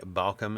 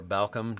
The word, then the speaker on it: Baucham: and knows who Voddie Baucham is, or Baucham, depending on who you hear pronounce his name.